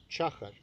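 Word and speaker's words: Tschacher: been described by Wolfgang Schacher. His surname is spelled T-A-S-C-H-A-C-H-E-R. Schacher.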